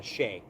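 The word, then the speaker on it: Chiey: watch him I think it's spelled c h i e y but it's PR it's pronounced uh sheay um he's actually pretty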